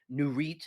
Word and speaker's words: Nurit: one of my favorites it's called the nurit n-u-r-i-t new REITs is how you say it new Reit 2085 they had this